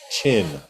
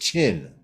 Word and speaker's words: Quinn: It's Chin. Oh, Quinn is pronounced Chin, but call me.